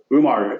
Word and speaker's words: Umar: So, Umar, how did you get all into the orthobiologics side and your background? Well, my buddies call me Omar, Johnny, even though it's spelled with a U.